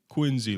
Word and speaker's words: Quincy: Quincy like it had a like it had a a Z. It has a C, but it say it like it has a Z.